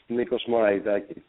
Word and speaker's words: Nikos Moraitakis: And And what is the correct pronunciation of your last name? Hey Megan. It's It's Nikos Moraitakis.